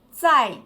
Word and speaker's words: 再见: particolare rispetto fai si sa i c e 6 c è sai si usa quando ci si lascia alla fine di un incontro attenzione sempre sui toni entrambi i caratteri sono del quarto attorno sa insieme sai